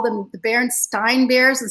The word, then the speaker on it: Berenstain: I call them the barren Stein bears and sometimes I called the Berenstein bears and I never meaning